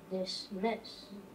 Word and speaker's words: dismiss: this and this excellent where's the accent dismiss I think it's no yes it's on that second syllable in the first syllable